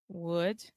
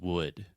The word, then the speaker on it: wood: like but it's just wood so this is the other u sound and it's just the uh sound like push should could look book wood Etc okay perfect okay